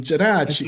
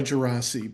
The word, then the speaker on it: Geraci: Well, the proper pronunciation involves handwaving and an Italian jerachi. Okay, it's Italian. You know, uh, I usually go by Gerasi, but I'm comfortable with a wide array of possible options.